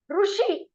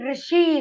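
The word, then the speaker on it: ऋषि: Only Rishi is correct. So how will you pronounce it? Ru is pronounced in between Ru and Ri.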